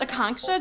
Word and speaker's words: Akanksha: i'm your dog walker akongsha is it a a shot oh it's pronounced a conksta just think of a conk shell the app said you